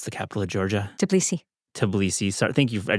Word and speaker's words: Tbilisi: Tbilisi. Tbilisi. Sorry, thank you. I just had to ask that right away because I just... Or Tbilisi. Tbilisi, so no T in there.